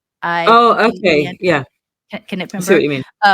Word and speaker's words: Knippenberg: I think they pronounce the K, but we wouldn't pronounce K. It's like KNI. Oh, okay, yeah. Knippenberg.